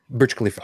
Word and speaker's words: Burj Khalifa: observation level of the and I'm gonna probably mispronounce it Burj Kalifa Kalifa oh the the Burj Kalifa yeah Burj Khalifa okay oh yeah and I pulled that up